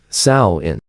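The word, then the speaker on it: Samhain: years originating with the ancient cel Festival of Sam Hayne pronounced sa in celebrated on the night of October 31 Sam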